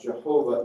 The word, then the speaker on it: Jehovah: an a here uh with the Y pronounced as a j as the Germans would do and the w pronounces a V sound as it sometimes is Jehovah some of the old